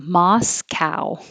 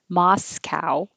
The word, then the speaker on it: Moscow: dove good dis and the american pronunciation of this is quite different than the russian pronunciation we say moscow with a real ow moscow and this is also